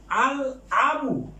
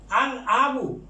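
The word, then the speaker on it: الأب: আল আবু, আল আবু, যেহেতু আলিফটা হামজাতুল অসল, এই জন্য এইটা লামটা উচ্চারিত হবে।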